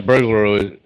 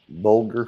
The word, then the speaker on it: bulgur: Yeah, burglar. Burglar. Burglar. I can't pronounce it right now. Bulgur. It's yeah, bulgur. It's cracked wheat Mm, basically.